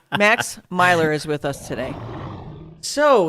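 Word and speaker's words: Myler: It's Meylor. Yep. M-Y. L-E-R. Yeah, that's how you pronounce it.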